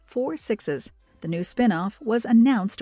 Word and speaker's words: 6666: join another spin-off series called 6666, pronounced as 4 sixes.